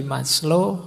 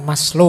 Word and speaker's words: Maslow: Jadi moralitas itu kalau di Maslo Abraham Maslo ini bukan Maslow membacanya. Maslo itu nama jangan dibaca mas itu yo mas lo itu rendah jadi Mas yang kelas rendah gak maslo itu lengkap.